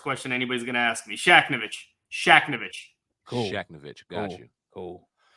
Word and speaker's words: Shakhevich: uh so again shaknovich hard hard name to pronounce if you read it it gets a little easier if you take the H out of the middle uh criminal defense and